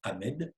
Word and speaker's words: Ahmed: Il répond qu'il s'appelle Ahmed et il prononce le E expiré, comme on le prononce dans sa langue d'origine. Et la professeure lui répond, en France, on ne prononce pas les H, tu t'appelles Ahmed.